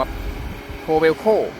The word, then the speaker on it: Kobelco: มั้ อ่าน ว่า โค หรือ ว่า โก ครับ โควโค ครับ SM นะ ครับ 200 ครับ หน้า งาน